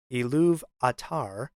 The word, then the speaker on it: Ilúvatar: Ilúvatar, or to pronounce it another way, Ilúvatar, meaning father of all.